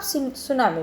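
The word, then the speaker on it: tsunami: देखिए, मैंने आपको पहले भी बताया था और फिर से बता रही हूँ, याद रखना इसकी स्पेलिंग में टी है, लेकिन जब आप इसको प्रोनाउंस करेंगे तो आप सुनामी पढ़ेंगे, राइट।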